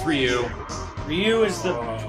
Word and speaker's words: Ryu: that's what they said about rayu it's like rayu is like not it's Ryu or or it's Ryu Ryu is the correct pronunciation but they say it you in Japan